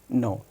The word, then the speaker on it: knee: नो, we only say न्यू. सो it means के is silent here.